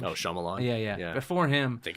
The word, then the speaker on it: Shyamalan: Oh, Shyamalan.